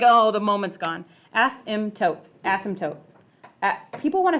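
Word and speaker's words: asymptote: there so it's just Asim tote M there's a p in there I think people want to pronounce that but it's not pronounced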